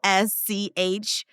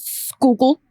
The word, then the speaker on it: Schuylkill: Capital SCHUYLKILL. Conrad, you go first. Schuylkill. Nicole? I was going to try to put on my super thick Philly accent. That's Schuylkill. Schuylkill.